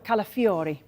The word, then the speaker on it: Calafiori: Arsenal how close is a deal for Ricardo calafiori good good pronunciation that Haley look look at this 35